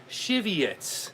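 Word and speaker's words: Żywiec: me a cheat sheet and it says you pronounce this beer as cheviots all right what's up tmds brother steve brother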